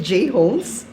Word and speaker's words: J Homes: Sometimes they would pronounce it as Jones. Actually, it's J Homes.